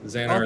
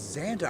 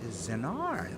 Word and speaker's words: Xanar: And you did pronounce the name right. Yes, Xanar Okay. is. It's an odd name. I agree. At first glance, I thought it was Xandar.